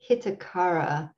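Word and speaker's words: hitakara: to study these things it's h-i-t-a k-a-r-a hitakar hits akara there isn't an accent on the eye so i'd have to look at my pronunciation to make sure i'm doing that right but i won't do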